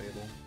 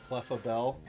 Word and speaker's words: Clefable: out there on YouTube, have you ever heard anyone pronounce it Clefabell? Because I would not be surprised if somebody out there thinks it's Clefabell. It kind of sounds better, but it's wrong.